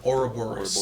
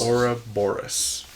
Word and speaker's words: Ouroboros: I like the that symbol of the, how do you pronounce it? The Aurora... Ouroboros. Ouroboros.